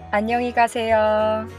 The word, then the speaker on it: 안녕히 가세요: Let's first practice the pronunciation of 안녕히 가세요. I'll say it three times. 안녕히 가세요. 안녕히 가세요. 안녕히 가세요.